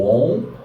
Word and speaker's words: Om: Prolongando a letra M, a gente entoa o Om, prolongando o máximo que nós pudermos a letra M.